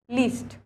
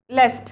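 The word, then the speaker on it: lest: Option दे रखे हैं but, then, yet या फिर लीस्ट, लेस्ट, सॉरी इसका प्रोनाउंसिएशन होता है लेस्ट।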